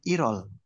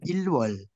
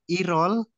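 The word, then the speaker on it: 일월: aturan Bim Il akhirnya konsonan l ketika bertemu dengan huruf vokal maka dia hidup kembali bahasanya irol irol bukan ilwol Nah nanti teman-teman dengar sendiri di listening Kenapa Bukan ilwol gitu ya Jadi dibacanya irol Il i-nya agak panjang bukan bukan iil tapi Il Il jadi satu gitu ya jadi satu maca yo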